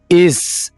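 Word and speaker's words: is: पर गौर करना है इज इसको इस नहीं बोलना इज इज का माना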